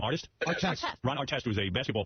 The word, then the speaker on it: Artest: Artest.